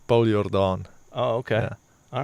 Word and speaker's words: Jordaan: And is that how it's pronounced? It depends on what language you're using. Yeah. But in Afrikaans, it's Paul Jordaan.